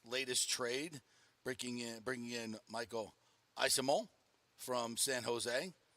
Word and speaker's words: Eyssimont: trade, bringing in Michael Eyssimont from San Jose, or Eyssimont, according to the pronunciation guide. That's what it is, but the pronunciation guide isn't always correct, I've learned.